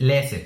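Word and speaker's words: læse: Un ejemplo que afortunadamente tiene ambos sonidos es lese, que significa leer.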